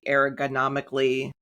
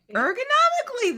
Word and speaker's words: ergonomically: while the executive in a corporation gets the aergonomically I can never say that word right?" Well, how do you say that? Eric. Ergonomically.